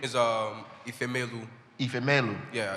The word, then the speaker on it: Ifemelu: Ifemelu. Everybody got that? Ifemelu.